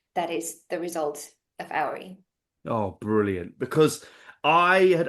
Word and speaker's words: Auri: AI.